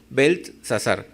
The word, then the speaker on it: Beltsasar: rey puso por nombre Beltsasar. Aquí parece que se pronuncia igual, pero no, es como una T al medio, ¿no? Beltsasar.